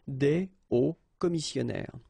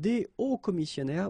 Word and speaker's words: des hauts commissionnaires: un haut commissionnaire and des hauts commissionnaires, well, clearly it is pronounced the same way. So you put the S at the end of both things here, okay, but then you don't pronounce them, so it will be